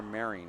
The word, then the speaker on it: Meiring: It's actually Bear Meiring. I'm glad you guys mispronounced his name many times.